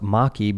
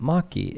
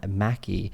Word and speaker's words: Maki: Ali Maki. And it's pronounced Maki because, as you guys will see or hear in a second, she corrects me.